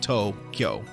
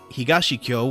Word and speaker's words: Tokyo: together to make words many kanji can be pronounced or read in several different ways and usually only one reading will be correct for any particular word for existence in for instance tokyo has the kanji for east and capital so tokyo east capital but it could also be read that first character can also be read higashi but higashikyo will not be understood the word must be read with the tokyo reading sometimes however the